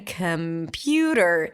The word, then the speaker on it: computer: Computer.